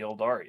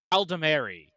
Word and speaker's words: Aldemari: It's just we have to kill all of the Eldari. That's real. Did I just say Eldari? Which ones are the It's Eldari Eldari? Dominion, right? Aldemari. Aldemari, yeah. Aldemari.